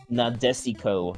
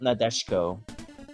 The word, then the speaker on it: Nadesico: Oh, Martian successor Nadesico. Not Nadeshko.